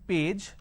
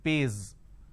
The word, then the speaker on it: page: For example, page. So instead of saying page, they pronounce this as pays.